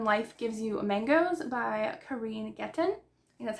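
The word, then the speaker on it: Kereen Getten: one is when life gives you mangoes by Karine getton that's how you pronounce it but I got it for the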